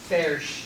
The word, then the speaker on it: Foerch: I'm told he coached me on how to pronounce his last name. Foerch.